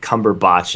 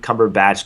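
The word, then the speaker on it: Cumberbatch: doctor strange video where I accidentally pronounced it uh Benedict cumber botch and I remember there was a bunch of people in the comment section I was like you know it's tomatoes tomato type of thing cumber batch cumber botch so yeah I might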